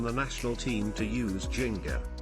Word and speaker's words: ginga: The ginga, pronounced ginga, literally, rocking back and forth, to swing, is the fundamental footwork of capoeira.